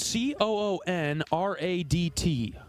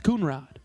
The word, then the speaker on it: Coonrod: yesterday yes I apologize been mispronouncing his name spelled c o o n r a DT I I said coonrad it's coonrod Rod that was and that was